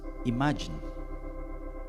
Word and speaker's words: Imagine: Imagine, así se pronuncia.